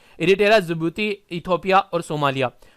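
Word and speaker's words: Djibouti: यहाँ जो दो कंट्री मैंने आप लोगों को यहाँ पर बताई है, एक तो हो गया जिबूती, तो यहाँ पर भी डी साइलेंट आप लोगों को देखने को मिलेगा, जिबूती इसको लिखा जाता है, ये एरिटेरिया।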